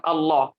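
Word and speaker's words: الله: Allah sah full jalalah Allah itu kan lam ya toh Allah itu lam ya ada huruf lam nya di tengahnya Nah itu cara pengucapannya adalah dia ditekuk lidahnya ya jadi lebih dalem dah kek mau kok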